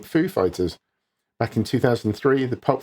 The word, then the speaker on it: Foo Fighters: another stab at pronouncing Foo Fighters back in 2003 the pop fiction star introduced the band on SNL putting the emphasis on Fighters rather than food in a 2017 interview